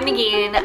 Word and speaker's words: Negeen: area five minutes down the road hey i'm negan um i have to say my name in